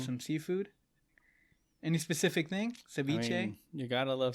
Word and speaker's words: ceviche: Ceviche?